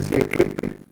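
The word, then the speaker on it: Koeppe: Este se llama PQEP, se escribe PQEP, se pronuncia Kekepe.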